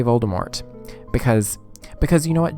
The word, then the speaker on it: Voldemort: popped in was like oh actually the t is silent i'm like where when who and why why is the tv did the t silent in voldemort excuse me ma'am so